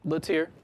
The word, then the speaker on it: Lattiere: Lattiere. Lattiere? Real Okay. simple. Because yesterday I was like, is it Lattiere? Because it kind of looked French. That's the French pronunciation.